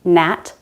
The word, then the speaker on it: gnat: This is silent when a word begins with a GN. Gnome, gnat, gnaw.